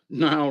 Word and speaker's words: Nile: Nile rhymes with smile, right?